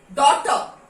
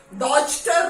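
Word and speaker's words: daughter: जैसे डॉटर, तो डॉटर में क्या, DAUTER हम प्रोनाउंस कर रहे हैं, डॉटर, डॉचटर नहीं बोलते हैं, डॉटर।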